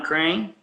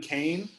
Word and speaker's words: Kane: Would you say his name was Crane? Kane. Kane. Yeah.